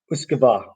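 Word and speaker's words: uisge beatha: Now it doesn't look like that at all, but that is what it is. So and anyone that knows Gaelic or has come across Gaelic names, you'll know that what is written is not always what is pronounced.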